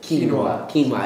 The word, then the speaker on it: quinoa: are like whole wheat bread, whole wheat pasta, quinoa. It's like a little grain. You can get that at a lot of your local food stores. How do you pronounce that? Quinoa.